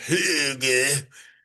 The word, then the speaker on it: hygge: It's pronounced hygge, and that means cozy.